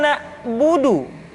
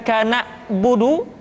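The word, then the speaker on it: نعبد: Contoh, iyyaka na'budu, bukan kana budu, tetapi agak ditekan sedikit, kana budu, iyyaka na'budu.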